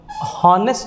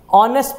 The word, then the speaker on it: honest: देखो यहाँ पे मैंने एन यूज किया है क्योंकि ये हॉनेस्ट नहीं पढ़ते, हमें ऑनेस्ट पढ़ते हैं, ओ का प्रोनाउंसिएशन आता है पहले, ठीक है, एच यहाँ पे साइलेंट होता है, इसलिए हम यहाँ पे